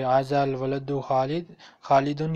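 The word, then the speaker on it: ولد: मन हाजा अल वालिद, वालिद नहीं है, प्रोनाउंसिएशन की भी गलती है, मतलब की भी गलती है। वालिद तो अब्बू को कहते हैं। मन हाजल वलद, वलद वलद क्या ठीक है।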